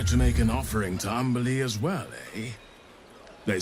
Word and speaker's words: Umberlee: What do you know of Umberlee, Astarion? Oh, lots. Rhymes with undersea, for one thing.